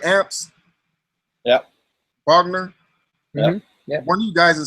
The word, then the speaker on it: Bogner: I wish I had mixed that those um Bogner am I saying it right amps yeah Bogner yeah one you guys have said it was